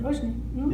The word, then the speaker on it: Roshni: Did I say it right? Roshni? Roshni. Yep.